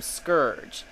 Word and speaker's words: Scourge: Um, suffice to say, I spoke to Ian Flynn and the other creators of the comic, and they pronounce his name Scourge.